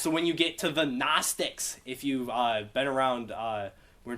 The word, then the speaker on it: Gnostics: So they were called Gnostics. And when you write it, there's a G in front of that. That's because it comes from gnosis.